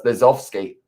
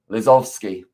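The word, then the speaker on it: Lozowski: it's a polish name w's in their name uh often pronounced as a v as well so it's lesofsky lizovsky that is very useful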